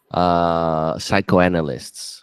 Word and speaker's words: psychoanalysts: Yeah, I have two ants there that are psychanalysts, Oh, nice. psychanalysts, Psychoanalysts.